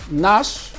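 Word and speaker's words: gnash: have the g sound the g sound is also silent in some words like nuts like nash like you have national teeth it's not national teeth so mind you nash the ghee is not pronounced so now let's move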